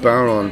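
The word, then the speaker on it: bodhrán: have a fear of barron players let me explain what a barron is it's spelled b-o-d-h-r-i-n but it's spelled baron it's it's a sort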